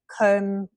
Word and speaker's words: comb: The B, you can see the words comb, climb, numb. The B is at the end of the word, but in the beginning or the middle, we do say the B like brave, bright, number, plumber. The K and the G